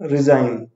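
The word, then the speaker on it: regime: Next word is, इसके pronunciation पे ध्यान दीजिएगा। रिजाइन बोलते हैं।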